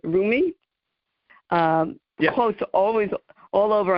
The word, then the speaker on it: Rumi: Saqib, you were a wealth of information, and you talked about, see if I can pronounce his name right, Rumi?